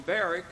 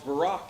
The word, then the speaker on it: Barak: that's mentioned here we used to call him barrack and then Barack Obama became president his name